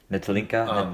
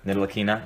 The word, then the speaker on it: Ntilikina: Nitalinka? Ntilikina. Nitalikina, yeah.